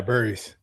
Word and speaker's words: Burries: Yeah, Burries.